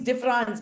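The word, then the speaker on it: différance: Derrida coins differance by replacing E in the French word difference with an A. Sounds right. Difference and differance, same pronunciation in French.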